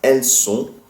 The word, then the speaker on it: elles sont: And we have elles sont. Elles sont. Elles sont, which is they are, feminine. So ELLESSONT, two different words. Once again, all of these verb forms end in silent letters.